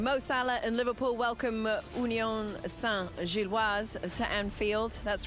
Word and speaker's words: Union Saint-Gilloise: Mo Salah and Liverpool welcome Union Saint-Gilloise to Anfield.